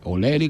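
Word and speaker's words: O'Leary: su edecán, Daniel Florencio Oleari, como se escribe, Oleri como lo pronuncian según los que saben del irlandés.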